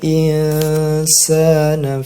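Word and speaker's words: الإنسان: Cara membacanya bagaimana? Yaitu insana. Jadi setengah huruf nun, terus dilanjutkan persiapan ketika mendengung itu bibir sudah membentuk kepada huruf sin. Insana.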